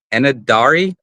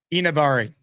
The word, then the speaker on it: Enagbare: Kinsley Enadari. Yeah, I butchered it earlier. Kingsley. Uh, hold on. I had the phonetic Enabari.